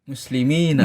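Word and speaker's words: مسلمين: Tapi kalau dua orang muslim musli muslimaini maini. Nah itu beda kalau di kalau enggak dikasih harakat tulisannya sama. Tapi kalau dikasih harakat bacanya beda artinya beda.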